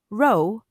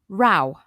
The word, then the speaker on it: row: Now, this word is spelt R-O-W and can be pronounced either row or row.